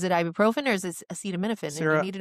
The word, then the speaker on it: acetaminophen: No, Acetaminophen is how people normally say it, acetaminophen. but it's correctly pronounced acetaminophen.